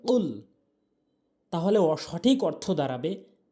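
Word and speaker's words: قُلْ: হবে অর্থাৎ গোড়া থেকে জিহ্বার গোড়া থেকে উচ্চারণ হবে কুল তাহলে সঠিক অর্থ দাঁড়াবে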